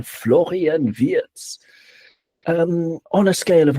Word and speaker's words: Florian Wirtz: That's the pronunciation. Florian Viet um on a scale of 1 to 10, how excited are you?